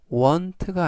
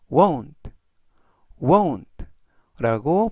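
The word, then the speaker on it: won't: 상대에게 표현할 수 있고요 여기에서 발음의 유의하실 점은 원트가 아니라 1 등라고 발음하시면 좋겠습니다 이번 패턴으로 함께 영작을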